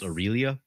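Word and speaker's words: Aurelia: the comments that that is why you know aralia is actually pronounced aurélia really yeah i'm not changing at this point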